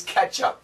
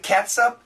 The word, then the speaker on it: ketchup: other with cats up and ketchup but the pronunciation 99 98 well 97.6% of the time is ketchup so when you see this word you can still say ketchup educated people pronounce it katup that's not true so finally Doug says not